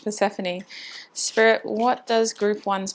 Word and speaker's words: Persephone: Oracle by Lily tarot I always just couldn't say her name I was saying personify oh my gosh Persephone Spirit what does group